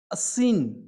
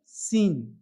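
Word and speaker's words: scene: वो है, क्या चीज, असीन, क्या चीज, असीन। लेकिन एस को साइलेंट कर देंगे तो क्या पढ़ेंगे, सिर्फ सीन, क्या चीज, सीन।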